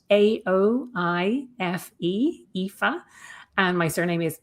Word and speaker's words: Aoife: So, it's spelled A O I F E, Aoife.